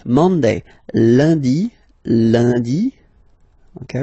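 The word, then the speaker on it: lundi: And in France, uh, the week starts with Lundy, Monday, Landy, Lundy. Okay, remember N is pronounced like Liy Landy Landy.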